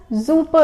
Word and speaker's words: super: Just simply word is same, everything is same, just the pronunciation is changed.